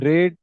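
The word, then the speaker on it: read: হ্যাঁ বাট ওই তো পাস্ট টেন্সে আমাদের হচ্ছে পাস্টের দিকে গেলে এটার উচ্চারণটা রেড হয়ে যায় রেড আচ্ছা মানে শুধু বানানটা চেঞ্জ হবে না?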